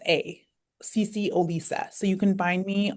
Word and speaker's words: CeCe Olisa: Um yeah, my um my name is spelled C E C E O L I S A C C O Lisa.